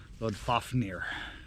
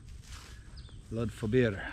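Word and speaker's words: Loddfáfnir: Many mispronounce that as Lod Fafnir. Lod Fobir.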